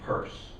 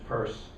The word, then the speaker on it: Peirce: guy's it was like charles sanders peirce actually pronounce his name purse that's Charles Sanders purse and burn on dis